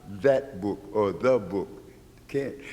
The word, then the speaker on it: Tha: It looks like our capital P, and it's pronounced Tha.